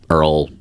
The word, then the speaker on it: oil: instead or she says Earl instead of oil but I'm pretty sure she can site oil if she wanted to but like she still says Earl well and also Earl is a southern uh pronunciation it's like my mom